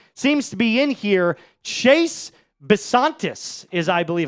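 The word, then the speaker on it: Chase Bisontis: Chase Basantis is, I believe, how you pronounce this.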